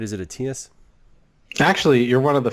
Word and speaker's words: Atias: Is it Atias? Actually, you're one of the few people that pronounce it properly. All right. How do people usually say it? Atias or Adius.